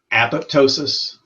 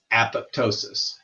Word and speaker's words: apoptosis: Once again, apoptosis, apoptosis, as I mentioned earlier, pronounce it as it sounds. Pronounce it like 2 words, apop and then tosis.